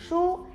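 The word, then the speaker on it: 书: memberi buku Mengapa karena buku dalam Mandarinnya disebut Soo yang pengucapannya sama dengan kata Sooyoung giarti kalah jadi jangan kasih buku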